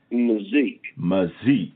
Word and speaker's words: McZeke: How you pronounce that last name? McZeke.